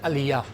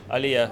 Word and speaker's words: aliyah: and they are doing it because of the alia how do you pronounce it Illya Illya so maybe you could tell me what is